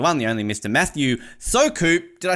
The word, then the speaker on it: Soukup: Matthew Soukup. Did I say it correctly? Soukup works, but Soukup.